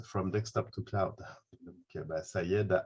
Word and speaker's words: Saeid: Je le prononce bien, hein, Sayed, c'est correct?